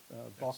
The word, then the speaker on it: bokeh: You create a nice background, a nice smooth background, which is bokeh. That's the key. And that's, I think that's how you oh yeah, pronounce it.